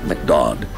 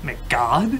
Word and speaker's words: McDodd: A man named McDodd. Wait, what? McDodd. Wait, what? McDodd? McGod? McDodd. McGod? McDodd. D-O-D-D. You just call him that to rhyme with odd.